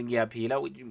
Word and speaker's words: ngiyaphila: But anyways, yeah, our third lesson was ngiyaphila, which means I'm fine.